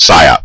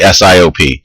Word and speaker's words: SIOP: industrial organizational psychology or psyop pronounced psyop never say siop that is not the way that we talk about it in the field and like all fields